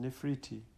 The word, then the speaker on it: Nefertiti: about them to guide I am Nefertiti pronounced nephriti you know all about